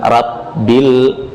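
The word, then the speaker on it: رَبِّ: Rabbil, rabbil, bukan rab tapi ro, tebalkan ro, tafkhim. Rob, jadi bukan rabbil, tidak, tapi bil. Nah, kemudian ba bertasydid. Lihat ada ba bertasydid. Kesalahan pengucapan ba bertasydid adalah mengucapkan dengan angin, rabbil a, padahal ba huruf syiddah. Syiddah itu nggak boleh ada jeryanun nafas, aliran nafas. Rabbi, bil, jangan dibaca dengan rabbil.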